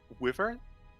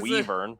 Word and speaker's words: wyvern: They're like, "Fuck it, we're saying Wyvern." I got At least you. they're Yeah, not saying there's a- Weavern.